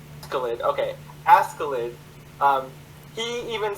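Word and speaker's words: Askeladd: I'm not gonna try to pronounce it. It's Scandinavian. Escalade? Askelid.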